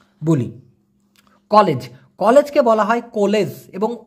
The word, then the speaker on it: kolej: College, কলেজকে বলা হয় কলেজ, এবং বানানটা দেখেন KOLEJ, কলেজ, কলেজ মানে কলেজ।